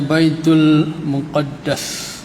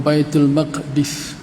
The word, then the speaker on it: Baitul Muqaddas: tentera itu keluar daripada Baitul Muqaddas ataupun Baitul Maqdis. Cara baca dua, ya, Muqaddas ataupun Maqdis, ya. Baitul Muqaddas.